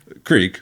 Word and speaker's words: creek: country knows what a crick is. Yeah, that's okay. That's how you say it. How else do you say two E's? Right. Creek, but you know.